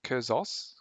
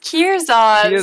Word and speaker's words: Kierson: don't know like sorry how do i pronounce curzo is it kurzas kuzzos it's kierson so my name is